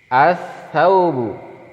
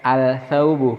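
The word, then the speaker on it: الثوبُ: As-saubu. As-saubu. Kita membacanya as-saubu, bukan al-saubu, karena ini huruf-huruf syamsiah.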